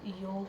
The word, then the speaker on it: योग: Right pronunciation है योग। Okay? Not योगा।